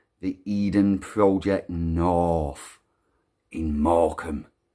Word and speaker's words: Morecambe: So Morecambe, you're really going to struggle spelling that if you were to try and spell it as it's pronounced. It's not one of those phonetic words. Morecambe.